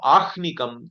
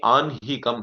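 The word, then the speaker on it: आह्निकम्: And whatever you do daily is called Anhikam. There also it is not Ahnikam, it should be Anhikam. Like that, Nakara, Hakara, and and Makara, Hakara, like that you have to chant it or pronounce it.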